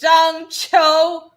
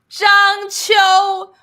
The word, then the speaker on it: Zhang Qiu: So the surname is reversed, right? Because in Asia, the surname comes first. It's Zhang Qiu. That's how you pronounce it. Zhang Qiu.